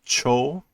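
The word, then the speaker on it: 超: notice Super Saiyan is Cho this is normally uh what usually gets used for super but it's pronounced Cho normally but it's given the English pronunciation super super saiyan all right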